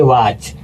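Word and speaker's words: watch: अगला भी दोस्तों वैसे ही है सीएच आ गया और सीएच के तुरंत पहले टी आ गया तो यहां पर टी साइलेंट हो जाएगा तो इसको पढ़ेंगे वाच।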